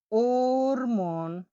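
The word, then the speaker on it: o'rmon: তাহলে ও এর উপর টান থাকলে ওর মন, মানে ওটা একটু জোরে উচ্চারণ হবে, ওর, এরকম হবে।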